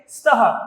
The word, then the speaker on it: स्तः: स्तः इसका उच्चारण क्या करेंगे? स्तः। अस्तः नहीं बोलेंगे, स्तः।